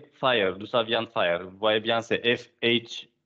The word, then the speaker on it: FHIR: Vous avez observé aussi qu'on dit FHIR, donc comme le feu. Mais en fait, ça ne s'écrit pas Fire comme le feu, même si le logo, c'est le feu, mais ça s'écrit FHIR.